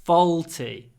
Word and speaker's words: faulty: is faulty fault faulty it's this this dark again faulty not faulty but F the tip of your tongue goes down L faulty faulty oh faulty okay